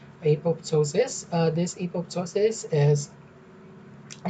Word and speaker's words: apoptosis: So you can some pronounce this as apoptosis, some as apoptosis. So I'll just keep pronouncing it apoptosis.